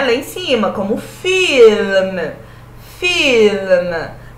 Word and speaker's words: film: A língua vai lá em cima, né? Film. Não é filme. Filme. A gente fala no português filme, né? Ah, vou assistir um filme. Vou ver um filme. Filme, pronunciado assim no italiano, filme é rio em italiano, ragazzi.